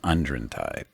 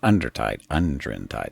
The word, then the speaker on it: Undrentide: Uh Shadows of uh Unren Tide. Not Undertren Tide. They had to spell it differently for some reason.